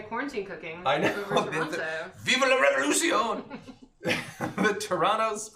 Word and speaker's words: Toronto: Smile or die, or smile or we'll die, is I'm in Toronto and pronounce the second T. But somebody else said nobody in Canada pronounces it.